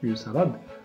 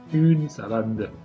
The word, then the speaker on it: une salade: دونك هنا في هذا المثال تاع أو سالاد مغاديش نقول لها أو سالا ولا نقول أو سالاد ونحبس، لا نقول أون سالاد. نطقها أون سالاد.